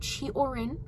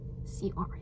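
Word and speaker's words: Cioran: say his name wrong just know that it's chorn and know that I'm better now because I've learned okay because now I know that it's chorin not seorin I have a soft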